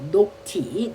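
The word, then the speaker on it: nocti: 녹티. 녹티. 여러분 녹티는요. 뭐를 나타낸다고요? 야간을 나타내는 어근이에요. 어근. 녹. 녹지 여기는 여러분 연결모 연결 모음이 오가 아니라 i를 사용을 했어요. 아이 왜 발음하기 편하라고 했어요.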